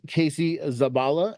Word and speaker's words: Casey Zabala: Today, my guest is Casey Zabala. Did I pronounce that correctly, by the way?